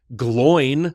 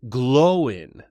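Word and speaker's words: Glóin: writing that I realized it is not gloin like loin with a G, but it is glowin. There's an accent on the O.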